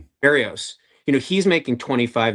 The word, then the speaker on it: Berríos: Is that how you pronounce it? Berríos, yeah. Berríos.